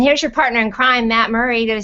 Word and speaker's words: Murrie: And here's your partner in crime, Matt Murrie.